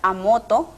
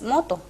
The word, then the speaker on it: moto: Por ejemplo, solemos pronunciar a moto y sabemos que es inapropiado agregarle la vocal A al comienzo. La palabra correcta es moto.